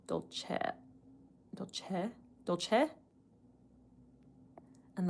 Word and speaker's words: Dolce: a similar way to the E in the word sell. So, dol- chet sell. Dol- chet dol- chet dol- chet And the I in Dolce is more like an E sound.